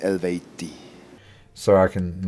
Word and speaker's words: Eluveitie: so for the record was a proper way to pronounce it according to today's state of knowledge of you know science is would be pronounced elevate D so I can like